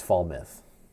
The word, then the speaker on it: Falmouth: Muth, or is it Muth? I would say Muth. Okay, Daniel's saying it's Falmouth. Falmith.